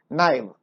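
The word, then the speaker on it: naive: नाइव, नेव नहीं बोलना, नाइव pronounce करने, नाइव। Honest, innocent and willing to trust people, बहुत सीधा साधा है, छल कपट से।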